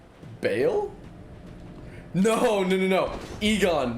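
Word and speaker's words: Eygon: Egon, not Igon. Slightly different.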